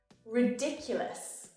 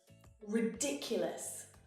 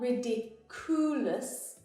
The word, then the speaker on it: ridiculous: population over ten years ridiculous ridiculous here the stress when I exaggerate that's ridiculous dick dick Ulis also notice how this U is pronounced as you not riddikulus but ridiculous oh they are my